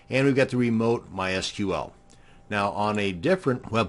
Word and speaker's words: MySQL: MySQL databases and yes it's pronounced MySQL not MySQL and we've got the